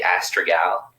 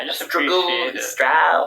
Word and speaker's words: Astragal: pronounce it you know we just say astra gal but i hear people saying i just strap you know it's hard